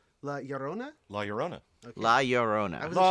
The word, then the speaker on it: Llorona: I wasn't sure if the R needed to be inflected, rolled, flipped. It's not a double R. Okay, so. But it's not pronounced the way an English R is. Yeah. We over-roticize our R's. Is there a little bit of a D to it? Llorona? La Llorona. Llorona. Okay, got it. Llorona.